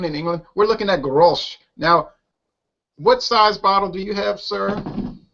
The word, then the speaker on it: Grolsch: Now, I pronounce it Grolsch.